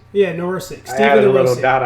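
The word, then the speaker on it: Nedoroscik: Steven Narosic. Did I say it right? Neurosic. Yeah, Neurosic.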